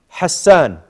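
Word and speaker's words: حسن: You know, the ha has to be sharp, just like a knife. Ha. Ha. Sharp, very ha. Don't mix it. If you don't do them sharp, then it's a bit ha. No, ha. Naam.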